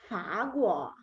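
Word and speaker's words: 法国: Then we go to the next country, is France, and this is Fa Guo.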